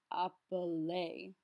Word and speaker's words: appeler: to a Z, though, an EZ makes an A sound, so it becomes appeler. Comment vous vous appelez? Comment vous vous appelez? Note the liaison between the second vous and the appeler.